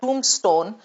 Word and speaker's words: tombstone: is written on that tombstone, what is this called? Spelling of tomb is wrong, Namita, Saloni. No, it is T-O-M-B. The B is silent.